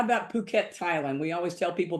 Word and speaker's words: Phuket: How about Phuket, Thailand? We always tell people, be careful how you pronounce this. The H is silent.